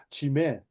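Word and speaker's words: ζύμη: 히브리어로 세우르라 그래 세우로 헬라어로는요 발음이 좀 재밌어요 지메 지메라고 하는데요이 누룩은 안에서 밖으로의 변화를 이루는 요소 있죠 우리의 변화는요 안에서 밖으로의 변화를 얘기해요.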